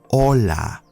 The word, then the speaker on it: hola: hello in spanish is hola do not pronounce the h you do not say